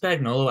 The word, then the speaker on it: Spagnuolo: Steve Spagnuolo, is it Spagnuolo?